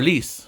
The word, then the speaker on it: Lise: Well, before she went to the Garlic Kingdom, she went to visit Luis, or Lise, not Luis. Again, it doesn't have an OU. Lise.